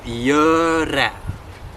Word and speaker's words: gjøre: Hear that? Gjøre. Putting the extra long there for your benefit, right? Hva gjør du? Get it? Really lock in on that sound. Because if you pronounce that in the verb to do like an O, you go straight into past tense, and then it gets tricky to be understood, right?